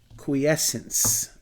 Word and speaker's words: quiescence: phase now those that dormancy is called quiz quiescence quiescence and let me let me spell that out for you here it's qu I